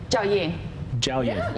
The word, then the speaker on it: Jiaoying: Jiaoying, am I saying your name right, by Perfect. The way? Perfect. Am I really? You pronounce my name perfectly. You say it. Jiaoying. Yeah, you did it.